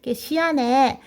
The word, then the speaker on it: 시안: 그래서 서쪽에 장안이다 해서 서안, 시안, 발음 시안이라고 합니다. 시안에 중국 공산당 예난에 있는 중국 공산당을 포위하기 위해서 시안에 장세량의 동북군이 주둔했다.